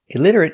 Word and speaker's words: illiterate: IID ID that's right the t is pronounced with a d between vowels pronounce d idter elit RIT illit illit illiterate illiterate stop T at the end illiterate illiterate illiterate four syllables stress on the second syllable illiterate stress on lid illiterate illiterate he cannot